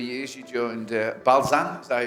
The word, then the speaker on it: Balzan: After 3 years, you joined Balzan, is that how you say it?